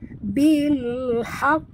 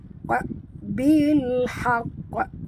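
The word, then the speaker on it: بالحق: Kalau Kalkalah Kubra, Qaf ini mati tanpa tasydid. Dan cara membacanya, kalau tak ada tasydid, bilhaq, bilhaq.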